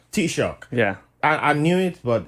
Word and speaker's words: Taoiseach: What was that word pronounced so again? it's a Taoiseach. Taoiseach.